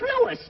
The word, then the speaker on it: Louis: the plant Lois Lois me name is leis not Lois J W everybody in toates me name wrong it's leis l o u i s Lois uh Louise Lucy